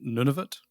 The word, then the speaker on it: Nunavut: Now, tell me about the pronunciation. Nunavut. That's correct. Yeah, Nunavut.